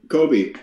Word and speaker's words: Kobe: Is that the right way to pronounce it? Kobe? K-S-B-E? Yes, Kobe.